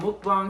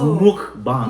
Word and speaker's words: mukbang: you know the the the Americans you know what I'm saying they don't know how to say it right so they say they say mukbang mukbang right mukbang I do believe the the proper way is Muk yeah for sure so